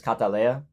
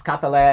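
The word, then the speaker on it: Kataleia: Her name's Catalea, like the Colombian flower. But it's spelled K instead of C, A-T. And then instead of being Leah, like the flower is, it's Leia, like Princess Leia.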